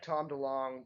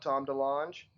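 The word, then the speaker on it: Tom DeLonge: like you know like Tom Dong tries to tell people that his name is not Tom Dange. Uh, and a lot of people, I mean, you can still on the internet to this day find people arguing over whether it is Dong or Danch.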